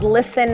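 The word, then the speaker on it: LSTN: Second super awesome company that is new and I just found out about is called Listen Headphones. Listen is spelled L-S-T-N if you'd like to look that up.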